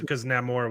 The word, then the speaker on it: Namor: Well, I think Mexicans were allowed to go see Black Panther though, because Namor was in it. Yeah, not Namor. Namor. Namor. It's not Namor. You gotta roll your R's.